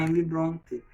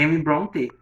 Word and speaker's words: Emily Brontë: A pronúncia Emily Brontë mesmo tem um trema em cima do E, tá? Então tu vai pronunciar, nunca vai falar Emily Brontë. É Emily Brontë, tá bom?